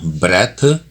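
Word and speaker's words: breath: number 23 पहला है बेटा ब्रेथ और दूसरा है ब्रीद बोलने में फर्क है स्पेलिंग का फर्क है पहले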